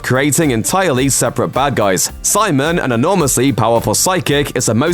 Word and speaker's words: Psimon: presumably, told him to start spelling his name with a silent P. Psimon set out to further